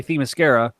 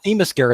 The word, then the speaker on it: Themyscira: get Brad to say Themyscira, which Oh yeah, I didn't know how to say it for Wonder Woman. It's not Themyscira, it's Themyscira. Themyscira.